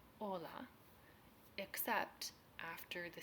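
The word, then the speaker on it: hola: the exact same way hes in Spanish are always silent as in Ola EX except after the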